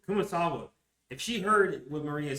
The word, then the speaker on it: Kumasawa: Kumasawa, if she heard what Maria says, she would believe her.